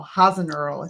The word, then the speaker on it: Hasenöhrl: beautiful um so and your last name is hasn't earl hasn't earl did i pronounce it right yeah okay right you're the